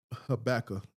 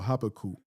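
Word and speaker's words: Habakkuk: Let me grab Habaca or Habacu as some people like to pronounce it.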